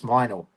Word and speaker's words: Minall: I've been pronounced Everyone says Minall. See, it's wrong. It's Minall. Minor.